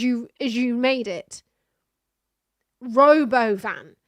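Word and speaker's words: Robovan: Robo van. It's not Robovven. It's Robo Van. stop trying to convince us that the name of it even was intelligent in any way. The Robo Van.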